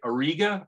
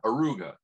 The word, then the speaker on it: Auriga: face and it's in um um i'm gonna butcher the name dave you know where it is yeah i can't say it auriga aruga auriga auriga thank you and uh that's my uh that's